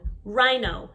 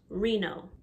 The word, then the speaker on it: rhino: rhinoceros we say rhino make sure the i sound in the middle is long rhino not reno penguin in different parts